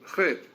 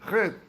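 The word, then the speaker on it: חטא: in Hebrew means sin, Chet. In Hebrew you write Chet, Tet, Aleph. The Aleph is paralyzed. We don't pronounce it.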